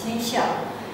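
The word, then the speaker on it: 天下: And this self-representation is encapsulated in this two-character word, which means, which is pronounced in modern Chinese, tianxia, and which means everything that is below heaven.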